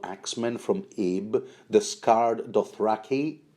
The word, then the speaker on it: Dothraki: from Ib, the scarred Dothraki, although I think George Martin pronounces that word Dothraki, a horse lord that everybody called Iggo.